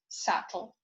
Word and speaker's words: subtle: in baby or rubber bu is silent when followed by um for example calm tomb or by t um as in subtle now let's get to